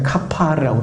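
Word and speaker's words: כפר: 역청은 히브리어로 발음하면 이제 카파르라고 그러는데 신약에서는 그 말이 뭐라고 이제 전해지고 있느냐면은 속죄라고, 리뎀션, 속죄라는 말이에요.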